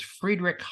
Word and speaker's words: Friedrich: the week from Friedrich by the way it's not Frederick it's Friedrich Hayek and it's spelled h-a-y-e-k